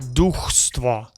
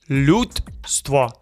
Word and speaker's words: людство: Americans want to add vowels. Duchstvo. Nope. Людство. No extra vowels.